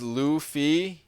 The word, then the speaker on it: Luffy: It's pronounced as Luffy, you son of a B Manny.